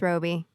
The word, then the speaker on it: Robbie: I know it's Roby.